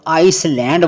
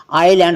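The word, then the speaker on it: island: एस साइ याद रखना अगर किसी वर्ड में भी आई और एल के बीच एस हो तो ए साइलेंट होता है example I एस एल ए एन डी इसको बहुत से लोग आइसलैंड बोलते हैं आईलैंड होता है द्वीप आईलैंड इसको बोलते हैं इसको आइसलैंड बोलोगे तो प्रोनंसिएशन गलत है परफेक्ट नहीं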